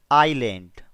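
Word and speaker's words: island: एक टापू पर, ऑन एन आइलैंड। दोस्तों, यहां पर एस साइलेंट है, इसे आइलैंड पढ़ना है और इसे पढ़ेंगे डोंकी।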